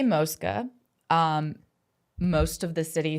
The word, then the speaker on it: Mosca: So, the fan we say Moska. Um, most of the city says Moscow and the whole city says Moska.